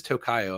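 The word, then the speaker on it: Tokio: tocoo does um and it is tocoo if I'm if I'm not mistaken I know it pronounced Tokyo a lot but um I've been you know corrected yeah I'm on the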